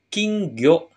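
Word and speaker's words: 金魚: emas kayak gini King ya emas minasang dia dibacanya kingo tentu saja ikan dan emas sama dengan ikan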